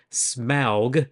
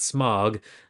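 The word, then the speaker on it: Smaug: pronounce his name correctly the Dragon name is smow not smog like what a lot of people mess up so there you go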